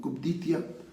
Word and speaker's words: cupiditia: Se escribe cupiditia, pero no se pronuncia ahí, sino cupditia.